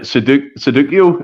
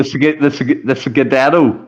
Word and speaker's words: Scudetto: So the first question is the Sudoku. Is that how you pronounce it? The Sudoku is the name given to the league title in which European country? No, it's not Sudoku then. Oh, sorry. The Scudetto is the name of